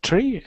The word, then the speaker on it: three: three three three good so sometimes your tongue is just flicking a little bit so i'm hearing three so i just wanna make sure that it's always that perfect three so that very uh soft r three him him good